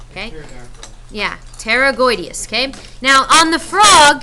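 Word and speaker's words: pterygoideus: the label they're called Terra goodus now it has a p here the p is silent it's like it's not even there okay yeah Terra goodus okay now on the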